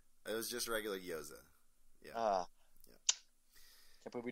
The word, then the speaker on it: gyoza: it was just regular gyoza yeah i can't believe we didn't ask that at the beginning goyza gyoza i guess you can pronounce the other way you're jewish uh again